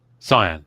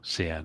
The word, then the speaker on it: cyan: Cyan, sorry. Or can as Americans tend to pronounce it incorrectly.